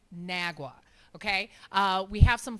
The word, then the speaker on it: NAGW: Uh some people will say an AGW, some will say Nagwa. Where I'm not sure where you get the woo from, um but it is pronounced Nagwa, okay?